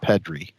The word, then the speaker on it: Pedri: That last guy you pulled, Pedro, nothing particularly special about him, but one of the hottest rookies in this is Pedri. It's actually pronounced Pedri.